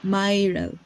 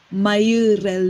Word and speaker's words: Myrel: yung first name mo myrel paano nila tina-try sabihin yyung myrel parang they say myel ganun kasi madami siyang consonant kaya pag binabasa nila